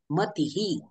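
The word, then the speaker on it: मतिः: आणि ज्ञानेश्वरीही आता इथे विसर्गाच्या मागे इ हा स्वर आलेला आहे म्हणून ज्ञानेश्वरीही मतीही याप्रमाणे ठीक आहे तर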